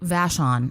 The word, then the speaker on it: Vashon: Vashon.